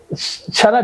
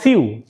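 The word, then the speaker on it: sew: এটাকে বলি কি ওক মানে হাটাক মানে হাটা সারা জাতি যে ভুলটা করে এটা এটাকে বলে সিউ সিউ মানে সেলাই করা সিউ মানে সেলাই করা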